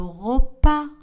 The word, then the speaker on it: repas: Le S à la fin du mot français n'est pas prononcé. J'apprends le français. J'apprends le français. Je sers le repas. Je sers. Le S n'est pas prononcé. Le repas.